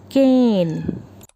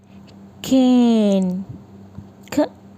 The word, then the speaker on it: cane: letter e and again the E is silent we don't use the sound of E so the first word is cane C A and E is silent we don't say candy we say cane in King next is